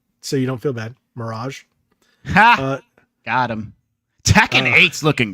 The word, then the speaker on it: Mirage: it actually looks really cool um Assassin's Creed marriage there you go so you don't feel bad Mirage got him Tekken Eight's looking great dude yeah